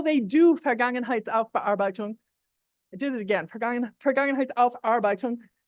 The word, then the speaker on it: Vergangenheitsaufarbeitung: this German concept of Vergangenheitsbewältigung. Actually, I put in an extra syllable. I've been doing it the whole time. Vergangenheitsaufarbeitung. I put in an extra syllable before, you maybe didn't notice.